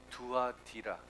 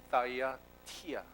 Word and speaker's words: 두아디라: 오늘 우리가 볼 교회는 두아디라, 영어식 읽으면 따이아티라 이렇게 발음을 합니다만, 두아디라 교회에 대해서 살펴보겠습니다.